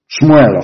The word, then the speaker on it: Shmuel: Let me tell you what Samuel said. Shmuel, of course. Correct pronunciation.